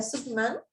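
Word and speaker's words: Syngman: fue Lee Sik-man, bueno, si no estoy mal, se pronuncia Suk-man, pero se romaniza de esta manera.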